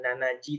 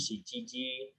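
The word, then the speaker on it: 七時: tahu kalau 7 sama Gimana cara bacanya bukan Nazi tapi siji 9 gimana bukan suci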